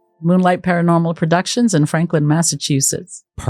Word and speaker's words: Massachusetts: Ma, because I always hear Massachusetts. Oh, nice. And it's massa chew like you would with your food, right?